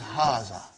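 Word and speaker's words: هذا: to erase it see it is pronounced like haga but this alif is not written it is explained in the key also so it is haazah okay means this and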